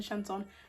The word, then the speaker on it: chanson: Well, it's actually pronounced Chanson, but we won't get into the logistics of it.